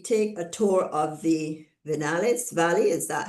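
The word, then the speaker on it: Viñales: Um event on the following day, we take a tour of the Venales Valley. Is that how it's pronounced?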